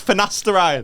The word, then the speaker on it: finasteride: used to look yeah you're saying it wrong as well it's finasteride is it a friend